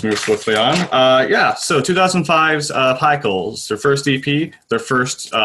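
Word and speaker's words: Pikul: They started off with an EP, commonly referred to as Pickle, even though I learned from researching this, it's actually pronounced Pickle.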